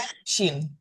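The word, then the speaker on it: ראש: Ingat, semua huruf dalam bahasa Ibrani itu konsonan. Jadi aslinya dia tidak berbunyi di sini. Jadi kalau misalkan dia pelafalannya mau tepat, harusnya dia rosh gitu, harusnya. Tapi kita ngomongnya rosh.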